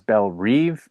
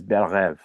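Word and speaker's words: Belle Reve: they keep pronouncing as Bel Reev, and that's not how you pronounce it. It's a French term. It means beautiful dream. The correct pronunciation is Berev.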